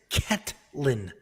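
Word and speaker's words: Katlyn: talking to me yeah it's cat lin i'm saying caitlyn i said caitlyn chuchagian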